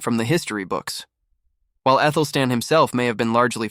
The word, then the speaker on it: Athelstan: While Athelstan himself may have been largely forgotten, his legacy still looms large. The A, by the way, is pronounced like the A in cat.